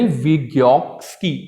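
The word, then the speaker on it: Vygotsky: live व्यूहक्सी का यानी वियोगस की इसमें टी साइलेंट होता है यानी उसका जितना भी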